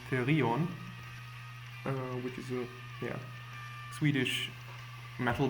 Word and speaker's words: Therion: background is Therion, or as it should be pronounced, Therion, which is a Swedish metal band that's also quite old, actually.